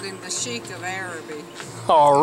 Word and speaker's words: Arabi: name of the town does anybody know how to pronounce the name of the town said it's Arab it's it is araby how about that well